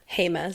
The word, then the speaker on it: Jemez: Jemez. Thank you so much for that pronunciation.